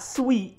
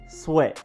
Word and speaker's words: Sweat: we have defense event Montes sweat not sweet sweat Mon tears sweat not moon not mound or whatever somebody might come up with is Montes sweat simple then you have